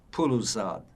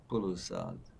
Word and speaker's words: Poulouzat: be leaving and going to another place called Puluzad. How do you spell that? P-O-U-L-O-U-Z-A-T. Puluzad.